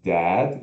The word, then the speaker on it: dad: E não é dad também, não é a, nem é. É o meio. É. De bola.